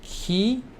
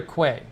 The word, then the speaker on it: quay: have that in minneapolis quay is pronounced key k no it's either k or quay k or quay it depends either is acceptable oh no uh it's